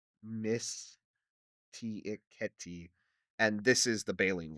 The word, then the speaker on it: Mysticeti: I'm trying to pronounce it Latin-y. Mysticeti.